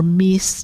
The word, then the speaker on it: Myss: There's a great author, Carolyn Myss, and we've got a lot of her, or Meese, depending on how people like to pronounce it.